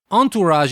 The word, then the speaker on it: entourage: and this word is Entourage and you might say that word sounds French well it is actually because it comes from French entourage is spelled e n